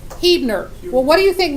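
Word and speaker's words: Huebner: is spelled H ueb and ER and it's pronounced heat nur well what do you think most people who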